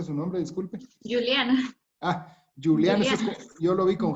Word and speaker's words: Juliana: Licenciada Juliana, así se pronuncia su nombre, disculpe. Juliana.